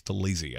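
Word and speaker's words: Taliese: Because I'm looking at 10 going, if Ola Fashanu's not there, you're taking Talise Fuaga, of which I've been saying his name incorrectly. It's Talise. I just got the pronunciation got on him.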